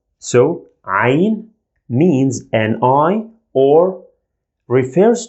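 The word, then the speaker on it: عين: pronounce it as i the sound comes from the throat i you feel like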